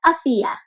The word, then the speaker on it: Afiya: a story about afiya so afiya is a swahili name in swahili is a language that's spoken in a country in africa and it means health and it is pronounced can you say that afiyah nice so afiya means